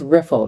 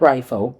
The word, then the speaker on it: Riffle: Did you which funny thing is funny thing is I um it's riffle not rifle correct we did we found that out.